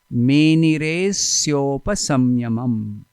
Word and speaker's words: मेनिरेस्योपसंयमम: संधि हो जाता है तो अ वी डोंट प्रोनाउंस, अ का उच्चारण नहीं करते हैं. मेनिरेस्योपसंयमम एक वो शब्द हो जाता है, एक पद हो जाता है. मेनिरेस्योपसंयमम, a will not be there, अ नहीं होगा.